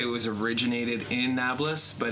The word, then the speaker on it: Nablus: in the 7th century, they have trouble pronouncing the P sound, and it becomes Neapolis, which is now what we call Nablus, but it's biblical Shem.